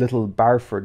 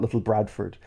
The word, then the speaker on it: Little Barford: I was like oh it's actually little barford not little Bradford cuz I even even in the even in the title I call them little Bradford even though it's little barford um so that was